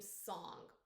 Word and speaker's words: Sang: But narrator pronounced his name Song. Apparently it is actually spelled like Sang, S-A-N-G. Pronounce it however you want.